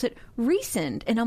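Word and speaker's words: Rhysand: Ry, like the bread risand, and they pronounce it recend. And I'm like, ew. I'm immediately turned off because I always have been calling that guy rising.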